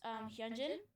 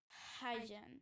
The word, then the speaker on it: Hyunjin: So one of the members' name is Hyunjin. He's awesome. He's so funny. And I pronounced his name as Hyjin.